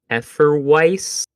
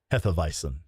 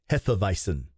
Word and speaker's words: Hefeweizen: of beer that Americans will call it a Hefeweiss beer. Now you've lost me. Yeah. Hefeweizen.